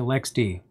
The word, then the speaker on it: LXD: goal is to well manage containers so if lexd is not a container type oven by itself